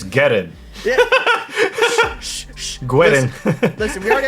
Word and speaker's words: Guerin: It's Guerin. Yeah. Guerin. Listen, we already have a video about me mispronouncing the shit out of names.